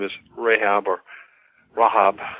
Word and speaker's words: Rahab: name is rhea amor Rahab is the jewish pronunciation and she helps them